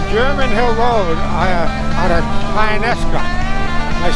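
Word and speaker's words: Tionesta: We're on German Hill Road out of Tynesta.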